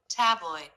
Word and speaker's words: tabloid: Tabloid. Oi. Stressed. The oi diphthong. Stress. A syllable.